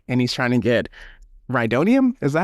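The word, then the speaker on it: Rhydonium: And then we also get our guy Sawerrera pop up on the car and he's trying to get Ryodonium. Is that how you pronounce it?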